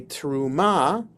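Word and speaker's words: תרומה: person to another okay A a teruma or with the accent the the right syllable a truma is a gift that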